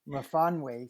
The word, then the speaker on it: Myfanwy: Myfanwy. Myfanwy. It sounds like it's Welsh. Am I right?